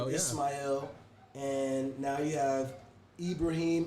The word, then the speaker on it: Ismail: took his name he took uh ishmael took the arabic pronunciation ismail and now you have